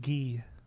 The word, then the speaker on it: Guy: We've been calling him Guy for years but now it's actually Gee. That that's how you pronounce that.